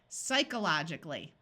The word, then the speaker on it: psychologically: that sounds very close let's switch this long o to a short o psychologically that sounds even closer we tried the long sound we tried the short sound now let's try schwang it psychologically that's the word if you found this